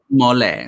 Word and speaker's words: mole: It's mole. Spelled like mole.